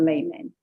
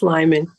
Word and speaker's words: Lyman: Is it Lyman or Layman? It's Lyman. You said it right.